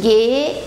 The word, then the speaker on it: gehe: O verbo gehen é o verbo ir, só chamando a atenção aqui que esse H entre os dois E's não é pronunciado, então a gente fala ich gehe ins Kino.